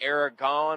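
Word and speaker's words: Eragon: A friend and I tried to watch the I don't know if it's Aragon or Aragorn. We don't talk about that movie. It doesn't exist. How do you pronounce it, Beards? It's Aragon. We watched the first like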